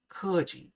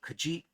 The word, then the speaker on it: keji: However, the accent jumps to the last syllable if the second to last syllable contains an e with the schwa sound. So in example 1b, it's not keji, it's keji for vile.